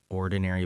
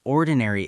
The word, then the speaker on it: ordinary: 4 syllables, stress on the first.